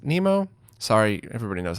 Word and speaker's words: Mnemo: It's Mnemo. I think it's pronounced Nemo.